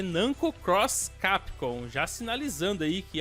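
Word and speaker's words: Namco × Capcom: Esse jogo é chamado muitas vezes de Nanko versus Capcon, mas na verdade a pronúncia correta é Nanco Cross Capcon, já sinalizando aí que é um crossover.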